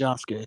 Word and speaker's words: Yasuke: It's pronounced Yasuke, Yusuke. like Sasuke. It's with a Y.